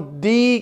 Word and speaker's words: the: लेकिन जब नाउन होगा तो लगेगा, तो उस नाउन को एंटीसीडेंट कहा जाता है और उससे पहले आने वाले THE को हम दी के तौर पर प्रोनाउंसिएट करते हैं।